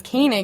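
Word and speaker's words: Koenig: e n IG and I how she pronounced it as kanig is how I hear her pronouncing it but I read it as cig or yeah that was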